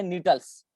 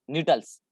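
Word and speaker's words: Gnetales: तो जिम्नोस्पर्म का एक ऑर्डर है नीटल्स, जी साइलेंट रहता है यहाँ पे, GNETLES, नीटल्स।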